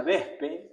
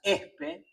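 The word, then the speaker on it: Wespe: Y que, que se pronuncia vespe, pero que el hombre de los lobos pronuncia espe, ¿no?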